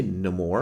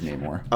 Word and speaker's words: Namor: yeah seeing is it do you say no more I say no more and I say nay more I go back and forth and it's I'm pretty sure it's pronounced properly as Namor we get back to